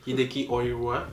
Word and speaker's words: Hideki Oira: C'est Hideki Oira. Oira, je le prononce bien. Mais en anglais. Hideki Oira.